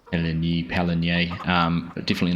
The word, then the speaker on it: Pallegney: Welcome back to Palani. Um, I had some correction on my pronunciation. I had been including the G, but it is a silent one.